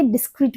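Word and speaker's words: discreet: double E टी सो इसको हम क्या बोलेंगे डिस्क्रीट बोलेंगे ये क्या है ये एक एडजेक्टिव है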